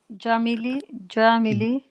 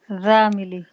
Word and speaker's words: زميلي: Huwa Jamili. It's a zai, not a jim. Zamili.